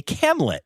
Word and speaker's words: camlet: would say, of course, a camlet, which I really like and rhymes with Hamlet.